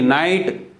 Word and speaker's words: knight: KNIGHT नाइट, ये रात वाला नाइट नहीं, योद्धा या वॉरियर जो होता है वो KNIGHT नाइट, के वहाँ भी साइलेंट।